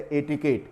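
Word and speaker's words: etiquette: उसे किया जाता है ए टी आई के यू ए टी ए ये लिखा हुआ है अटक ये इसका उच्चारण होगा और इसका अर्थ होता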